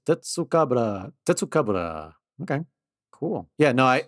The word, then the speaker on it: Tetsucabra: So, yeah, it's pronounced the same way in Japanese. Tetsucabra.